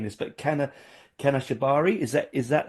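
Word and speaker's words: Kanashibari: Like I really liked, and I'm going to really badly embarrass myself by saying this, but Kana Shibari, is that how you Yeah.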